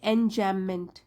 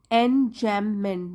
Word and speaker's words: enjambment: next poetic device है एन जमेंट एन जम मेंट B silent है इसमें इसका मतलब है इन